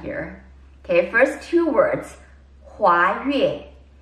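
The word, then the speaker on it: 华岳: Okay, first two words, 华越. It's spelled as H-U-A-Y-U-E for those who are interested or making notes. 华越.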